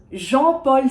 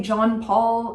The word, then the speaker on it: Jean-Paul: Jean-Paul Sartre. This is really hard to pronounce without the R. Okay, so Jean-Paul. Don't say John Paul, ideally, maybe, but Jean Paul, I think you can say, probably.